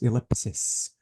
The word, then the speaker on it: ellipsis: This is, let me say ellipsis, because the correct way to say this punctuation mark is ellipsis. But the plural is ellipses.